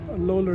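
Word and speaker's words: Bleuler: to zurich and worked with the famous eugene loller loller is how they pronounce it and he's uh is b-l-e-u-l-e-r this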